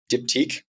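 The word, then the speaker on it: Diptyque: dipti I had to look up how to pronounce this because I'm I'm pretty basic uh dipti comfy sleepwear and slippers from the white company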